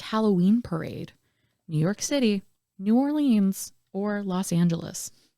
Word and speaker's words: New Orleans: listening and we're like New Orleans it's New Orleans we don't pronounce all of the letters my apologies Mark no